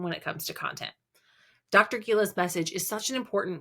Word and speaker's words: Gila: And on Instagram and Facebook, I'm Dr. Gila Parenting. I know it's hard to spell. It's DRGILA, rhymes with tequila.